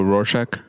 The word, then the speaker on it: Rorschach: Like when I did that test, I can never pronounce what's it called? What? The blob test? The blob. Oh, Rorschach.